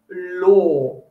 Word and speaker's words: law: important word for them it's law so say it like you're got an o r at the end okay it's exactly the